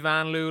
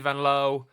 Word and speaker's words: Vanloo: Like obviously when with Julie Vanloo like it's actually Julie Vanlow and you just never know with pronunciations.